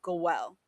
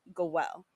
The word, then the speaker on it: goel: This was known as a I think the pronunciation is goel. A kinsman redeemer, right? That's that's the Hebrew for a kinsman redeemer. Goel. Goel. Like like Joel but with a G.